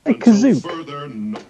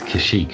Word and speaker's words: Kashyyyk: Did he say Kazook? Yeah. Yeah, they do mispronunciate Kashyyyk a couple of times in this.